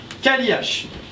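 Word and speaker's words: Cailleach: Kaliach. Alors ça s'écrit C-A-I, 2 L-E-A-C-H.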